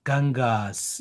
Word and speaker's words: Ganges: Okay, here, dear, you have to pronounce Gangas.